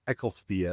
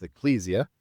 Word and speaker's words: ecclesia: A church, and ecclesia, as I'm hearing it pronounced a lot lately, even though it's ecclesia, either, I'm not going to quibble, is a group that you join.